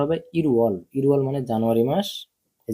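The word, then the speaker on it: 일월: দাল থাউম দাল ঝিনান্দাল ঠিক আছে এবার দেখেন ইল ওয়াল ইল ওয়াল এই যে ইল ওয়াল ইল ওয়াল মানে হচ্ছে জানুয়ারি মাস তো এটার উচ্চারণটা হবে ইরুয়াল ইরুয়াল মানে জানুয়ারি মাস এই যে উয়াল মানে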